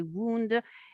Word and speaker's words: wound: um some damage on our skin it's actually wound in british and in american english yeah but